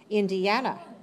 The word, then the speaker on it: Indiana: Okay. Indiana. Indiana. 4 syllables. Where's the stress? Third.